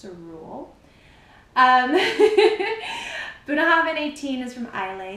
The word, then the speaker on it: Bunnahabhain: Buna Havin, that's how you pronounce it. Buuna Havin 18.